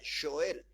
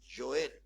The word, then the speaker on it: Joel: Joel y en realidad se pronuncia Joel así se pronuncia Joel y vamos a leer